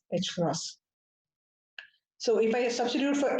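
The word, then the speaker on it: ħ: h cross this is we usually write it as h with a horizontal bar but pronounced as h cross so if i substitute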